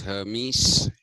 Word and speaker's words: Hermes: kind of a messenger uh whose name was Hermes h e r mes and uh it's from